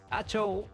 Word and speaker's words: Hachoo: mentre que el kanji a la pantalla de títol indica que està destinat a pronunciar-se "ha-chou" i també significa alguna cosa així com "presagi trencat".